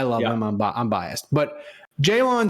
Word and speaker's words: Jaylon: him I'm biased but Jaylon Smith is that how you say it Jalen Jalen I think I think it's just Jalen Smith he in the first